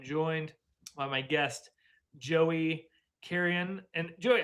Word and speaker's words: Carrion: So, yeah, Carreon Carreon's fine. That's generally how we pronounce it. Technically, the Spanish is Carreon, but people don't do that.